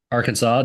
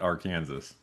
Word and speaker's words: Arkansas: Um well I was just in uh Arkansas doing some doing some kayaking or our Kansas. Yeah. I know there are some listeners that for some reason pronounce it R Kansas.